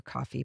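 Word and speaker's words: Ko-fi: It looks like Kofi, but I know it has to be pronounced coffee because their icon is a coffee mug.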